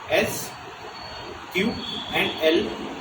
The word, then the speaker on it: SQL: SQL is the short form of structured query language, and it is pronounced S, Q, and L, or sometimes C Q query.